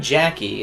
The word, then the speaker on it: Jacqui: They spell Jacqui. Yeah, Yeah, it's French, Jackie. Really? Yeah. it's a French name.